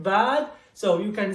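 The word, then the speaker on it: باء: It's like ba, like book.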